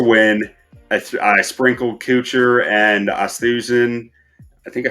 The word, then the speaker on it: Oosthuizen: I sprinkled Kuchar and Oosthuizen. I think I said that one right. Oosthuizen.